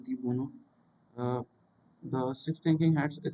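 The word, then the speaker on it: de Bono: इट is developed by Edward डी बोनो, बूनो बोलते हैं इसे, एक्चुअली प्रोनाउंस करते हैं एडवर्ड डी बोनो।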